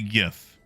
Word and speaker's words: GIF: I don't care if the creator calls it GIF. It will always be GIF. Because it stands for, like, what? Graphics, image, something. And the word graphics begins with a hard G.